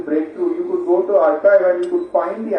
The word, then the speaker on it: arXiv: research papers available on websites like Archive, right? It's spelled ARXIV. But if you go to Archive, you will find the top research papers available for free there, right?